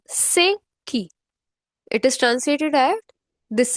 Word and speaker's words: C'est qui: It is Sei. Notice my pronunciation. Sei.